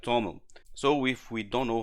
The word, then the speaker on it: TOML: file is written in the toml format it's pronounced like toml so if we don't know how to pronounce they give us a hint here I pronounce many times wrong like 2 ml but important is to understand what manifest is